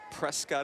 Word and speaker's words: Prescott: I got no idea Prescott Arizona Wow pronounce presque it rhymes with biscuit don't say Scott and out yourself alright basket and Yavapai